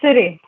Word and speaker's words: Siri: her own organization and correct me the pronunciation because it's Tamil uh Siri right uh it's Siri Siri okay uh Siri literally